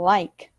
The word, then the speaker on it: like: Então, em inglês, toda vez que a gente tem palavras que terminam em E, né? Como, por exemplo, like. Esse like, a gente não fala like, né? Ele não é pronunciado, ele é um som surdo, que a gente chama. Ele vai meio que desaparecer na nossa fala, né?